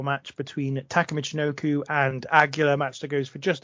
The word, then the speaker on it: Aguila: I'm terrible with pronouncing names, damn it. Aguila, yeah, help me out here.